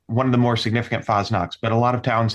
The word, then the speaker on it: Fasnacht: How do you pronounce that? Fastnacht? Fasnacht, yes.